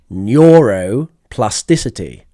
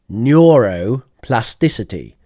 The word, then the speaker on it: neuroplasticity: an interesting English vocabulary let's do some English pronunciation neurop plasticity neur plasticity so plasticity is the